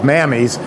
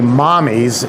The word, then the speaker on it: Mamis: Now this company, which is spelled M-A-M-I-S, which sounds like in the South, mammies, is actually mommies in Italian for mother.